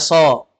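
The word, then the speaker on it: ص: Kan ini shad namanya, huruf shad. Bacanya so.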